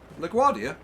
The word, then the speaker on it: LaGuardia: Did I say that right? LaGuardia? Yeah, you got it absolutely perfect.